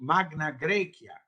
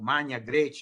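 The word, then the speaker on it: Magna Graecia: what was later called magna graia or man graa in the ecclesiastic pronunciation of Latin namely South Italy as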